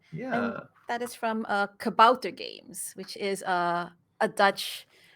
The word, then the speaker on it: Kabouter: They made a point for saying, "Hey, Kabouter Games is pronounced Kabouter Games and not Kabooter Games, because if you say Kabooter Games, that's actually a word meaning dove in Urdu, Oh, I believe. So don't huh. call it Kabooter Games; it's Kabouter Games."